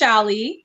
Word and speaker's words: Shalli: the people here that's okay there's a few pronunciations so i'm my name is shali um but my and my father's from dominica